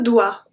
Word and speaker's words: dois: Je dois aussi. Je dois aussi. So, the S à doit is not pronounced.